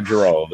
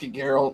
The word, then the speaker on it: Geralt: Is it Geralt or Gerald? It's just Geralt. It's fine. There's two different ways to pronounce it.